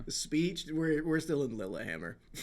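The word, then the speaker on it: Lillehammer: Lilammer. That's how you pronounce it. We love it. Cuz that's Norway, right? Lil Hammer.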